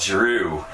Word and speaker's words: Giroux: hockey players is called giroux it's spelled g-i-r-o-u-x they don't pronounce the x she's not drew or